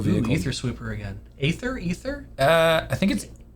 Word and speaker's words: Aether: Aether? I think it's spelled Aether and pronounced Ether.